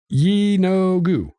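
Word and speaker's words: Yeenoghu: they say in here with the official yi no gu yinogu you know there you go there we go emphasis on the no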